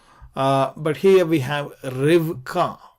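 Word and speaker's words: רִבְקָה: a as well uh but here we have rivka rivka okay these are the feminine nouns these are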